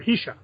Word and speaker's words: Heshka: Because Ryan, said it wrong before, Heshka.